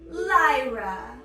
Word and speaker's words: Lyra: Lyra. It's a very pretty name, even if it says lie in it, which you don't do, class.